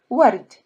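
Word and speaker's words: ورد: So in this case, you read this word as ward, ward. Ward is flowers. From now on, maybe we'll start adding some vocab in Arabic. So this is the first one. Ward is flowers.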